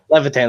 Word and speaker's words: Levitan: It's Levithan. Levitan, that's what I thought.